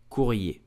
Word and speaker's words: courrier: So we will say it courrier. Courrier. Courrier. I repeat, courrier.